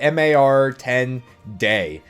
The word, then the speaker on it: MAR10 Day: It's a MAR 10 Day, which is a kind of a play on words of March 10th, Mario Day.